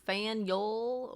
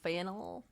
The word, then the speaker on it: Faneuil: Don't let the French spelling confuse you, huh? The name of this building is pronounced Fanyol or Fanol. Getting it wrong is a good way to indicate you're not from around here.